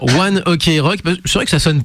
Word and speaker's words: ONE OK ROCK: un jeu de mots, One Oku Roku, ce qui fait qu'en fait ça fait One O'Clock En japonais. prononcé à Quand la tu prononces à la japonaise. Mais c'est vrai que nous en France on a chopé le tic. En anglais. Voilà, de le dire One Ok Rock.